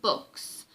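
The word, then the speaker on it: Bux: who is Bastian Balthazar books it's Bo X but it is pronounced books hitting you over the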